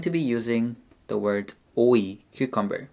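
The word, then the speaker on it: 오이: We're going to be using the word oi, cucumber. O is iung and o. And as you know, the iung is silent in this case. And then e, o-e, cucumber.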